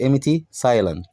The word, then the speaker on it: empty: والبي عندنا في empty silent يعني مش بتتنطق.